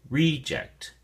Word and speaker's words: reject: add it but um the noun form uh the emphas or stress is on the first syllable and so we say reject reject okay reject reject let's